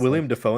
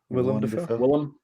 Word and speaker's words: Willem Dafoe: Isn't William Dafoe in that movie? Willem Dafoe.